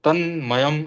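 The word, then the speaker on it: तन्मयम्: उन्होंने कहा था कि त पे आप थोड़ा जोर देना, तो तन्मयम ऐसा बोला जाता है।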